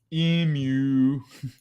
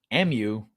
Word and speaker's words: emu: she sees the bs emu not emu oh u m u not emu m u that's stupid not even m u that's g you so you pronounce it like that because you're from us amuse oh you see them enemies over there like no i'm american we say emu even an average human